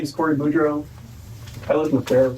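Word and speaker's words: Boudreau: Um, my name is Cory Budro.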